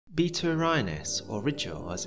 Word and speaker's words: Rigel: it first things first i've always pronounced the blue star ritual but you wouldn't be wrong if you pronounced it rigel in the north of england we tend to use a sharper if sound than in the south or in states much